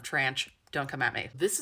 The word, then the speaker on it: tranche: That is the American pronunciation of tranche.